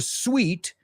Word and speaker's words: suite: you have you say the same word we reserved a suite at the Bellagio Hotel in Las Vegas in Las Vegas and the view was sweet it was sweet the one that we don't pronounce like that is which is suit and fruit right that oh man